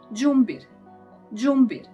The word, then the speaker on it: đumbir: ĐUMBIR. It is ginger, like G in it, so ginger.